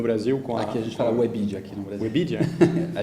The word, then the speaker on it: Webedia: um convidado, e ele aceitou, Cyril Reboul, da Webedia, que vai nos contar um pouco da experiência dele no Brasil. Aqui a gente fala Webedia aqui no Brasil.